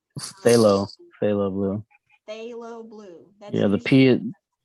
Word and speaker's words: phthalo: That's Yeah, usually the P is like there for no good reason at all. It's like, why did you even put that in there? Why don't you just spell it THAL?